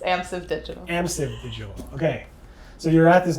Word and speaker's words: Amsive: no longer at path interactive but you're at annasville digital did i pronounce that correctly no you did not it's amps of digital amsevil okay so you're at this new company which